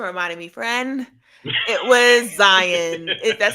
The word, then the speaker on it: Zion: for thanks for reminding me friend it was Zion that's how you pronounce by the way Zion it was Zion